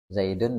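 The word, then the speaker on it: زيدٌ: In Un ya enggak zaidun Zaidan zaidin tapi tanwin itu kan punya definisi sebenarnya tanwin itu definisinya adalah nun sukun tanwin itu apa Nun nun sukun yang dibaca tapi tidak di tulis ya yang tidak yang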